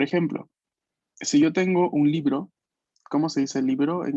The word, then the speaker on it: libro: Por ejemplo, si yo tengo un libro, ¿cómo se dice libro en italiano? Libri. Libri. Libro. Esos libros, en plural, libro. Libro. Libro. Libro, con la B fuerte, ¿no? B, libro.